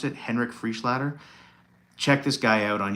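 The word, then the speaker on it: Henrik Freischlader: His name's Henrik Frischlader, I believe is how you pronounce it. Henrik Frischlader.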